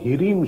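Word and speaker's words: ह्रीं: जो बीज मंत्र है वो रीम शब्द है हा में रा और उसमें एक रेचक लगा होता है उसको हम उच्चारण में बोलते हैं रिम यानी आप उनके बीज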